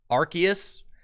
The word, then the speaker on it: Arceus: the scoop let's go arceus that's the way it's supposed to be pronounced if i'm going to